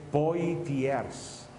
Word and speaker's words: Poitiers: Se escreve Poitiers, mas se pronuncia em francês Poitiers.